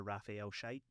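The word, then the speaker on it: Scheidt: like, it was named after former Celtic defender Raphael Shite. Oh. And they asked me like how you pronounced it, and I told them, and they cut me off.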